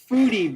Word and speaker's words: Fude: The e is spelled. It sounds like an a, so it's like foodie. Maybe. That sounds a little like French, though, doesn't it? Like Fude, but it's Japanese, so it'd be Foodie.